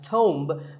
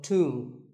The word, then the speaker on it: tomb: It's often wrongly pronounced as tomb, but the B is silent and the O is pronounced with an oo sound. So tomb.